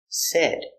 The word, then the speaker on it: said: and says in the past said pronunciation s e d said said he said hello let's practice what does